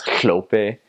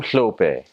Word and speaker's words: hlope: It's HL, so it's hlope. So you're like, I'm hlope, and it sounds like you got a lot of spit, in the side of your mouth, and it's just it's funny.